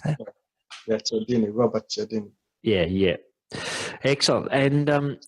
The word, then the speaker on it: Cialdini: I forget how to pronounce it. Yes, it's Cialdini or something like that. Yeah, Cialdini, Robert Cialdini.